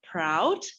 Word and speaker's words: PRAUD: He's the co-founder of Proud, if I pronounce correctly. Yes, thank you.